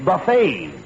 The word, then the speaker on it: buffet: Not buffet supper. It's buffet. The tea is silent.